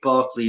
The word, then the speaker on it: Berkeley: But yeah, I was going to say you guys must have heard of George Barkley and uh I think you pronounce it Barkley because he was Irish.